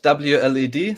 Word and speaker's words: WLED: I pronounce it WLED, so each letter separately, but you're fine to pronounce it whatever way you like.